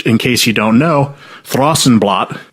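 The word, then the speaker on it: Thrawsunblat: case you don't know, Throsenblot, T H R A W S U N B L A T, was their interpretation of what Thrash and Blast would sound like pronounced by a Northern European.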